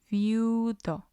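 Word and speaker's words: viudo: will bear the stress for example viewdo it means widower and again we have two syllables here and we have on the second syllable we have i and u they are both weak vowels and the stress will fall on you because it's the last one there are certain situations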